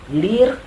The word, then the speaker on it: lire: Nah, di situ membaca koran, ada benda kan yang dibaca dia, bukan badan yang dibacanya, maka lirnya itu nggak ada se, jadi lir, kata kerjanya lir.